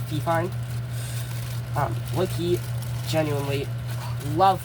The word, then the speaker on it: Fifine: Um the microphone is uh fine or fifine. It's fifine.